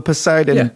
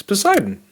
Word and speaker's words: Poseidon: there and this one's called the posidon posidon or piden how do you say that mate posidon it's Poseidon okay yeah the Poseidon project